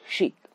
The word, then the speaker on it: chic: be correct about the pronunciation of sheikh. It's not chick, it's sheikh.